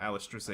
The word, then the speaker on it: Alicization: can't pronounce that subtitle. Alicization.